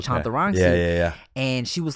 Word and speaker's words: Chantarangsu: first end and cuz she was saying Chadarangu instead of Chantarangu."